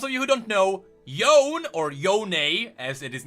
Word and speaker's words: Yone: can first of all they pronounce it yone naughty own that's an you want